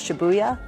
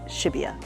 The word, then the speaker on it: Shibuya: train to go to what I used to pronounce as Shibuya, but is Shibuya.